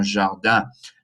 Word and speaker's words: jardin: Un jardin, nasal sound, un jardin.